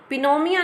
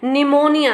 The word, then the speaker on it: pneumonia: लिखा हुआ है पिनोमिया, पिनोमिया नहीं है इसकी प्रोनाउंसिएशन, इसके प्रोनाउंसिएशन क्या है, निमोनिया है। इसमें पी जो है वो साइलेंट है और आगे का जो प्रोनाउंसिएशन बनेगा वो क्या बनेगा, निमोनिया बनेगा।